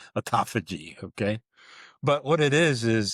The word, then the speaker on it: autophagy: So when you see that PH, it's like an F, autophagy, okay?